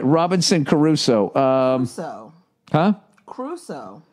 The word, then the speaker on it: Crusoe: Crusoe. The way it's spelled, Crusoe. Robinson Crusoe? Everyone says Robinson Crusoe, but it looks like Crusoe. I say Caruso because I always think of Ray Carruth.